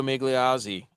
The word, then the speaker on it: Migliozzi: Migliozzi. Guido Migliozzi.